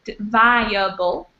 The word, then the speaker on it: viable: This word here is viable, again with a long I, viable.